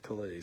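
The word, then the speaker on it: Calaz: Yeah, Calais, that's how you say it.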